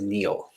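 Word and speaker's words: David-Néel: a v i d hyphen Neel but it's pronounced Neil um so uh in this era where she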